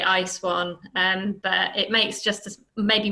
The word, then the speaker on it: ISWAN: So Catelin comes to us from ISWAN, which is been pronounced two different ways today. So that would be my first question: is ISWAN or ISWAN, or how we're not precious about it. Most of us inside say ISWAN, but it makes just